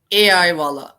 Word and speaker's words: AI Wala: And so is it Awala? Awala? Is that how you say it? AI Wala. It is AI, like artificial intelligence, and Wala, AI Wala.